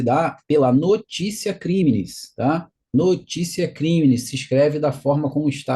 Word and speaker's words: Notitia Criminis: na apresentação no slide notite é uma palavra em latim Então se escreve se escreve dessa forma mas se pronuncia notícia crimes a notícia é crimes